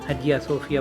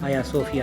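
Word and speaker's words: Ayasofya: کئی رنگ دیکھے ہیں۔ غیر ترک اسے عموماً حجیہ صوفیہ بلاتے ہیں، مگر ترکی زبان میں اس کا تلفظ آیا صوفیہ ہے۔ خواتین و حضرات، ہم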